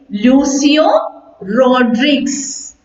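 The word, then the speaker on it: Lucio Rodrigues: in our textbook is written by the writer lucio rodriguez yes you may pronounce that name once with me it is lucio rodriguez right okay use your raw drinks here now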